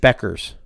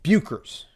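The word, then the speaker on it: Bueckers: whoever the dude does kept calling her paige becker's uh instead of bucharest yeah it's buker's every single time it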